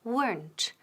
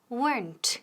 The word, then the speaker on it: weren't: Now, ojo, la pronunciación, weren't. Una sílaba, no dos. No decimos weren't ni weren't, ¿ok? Decimos weren't, weren't, y con T al final.